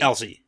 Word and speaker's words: Elsie: Some people say Elsie. Okay. But this is I-E. Yeah. This is clearly Elsie. Elsie. This can't be anything else. So. It can't be anything Elsie.